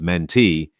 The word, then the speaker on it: mentee: The stress in the word mentee is on the last syllable.